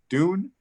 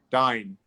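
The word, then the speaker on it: Van Dyne: Beth Van, is it Dune? Maybe you can help me out with the pronunciation. Dine. Yeah. Beth Van Dine.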